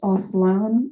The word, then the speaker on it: Aslan: Hi, real quick, my name is pronounced Aslan with a weird W sound in the last part of the name.